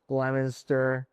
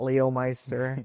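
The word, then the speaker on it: Leominster: Oh absolutely absolutely they'll say like the towns correctly and stuff like Worcester Lemonster not Leo Meister.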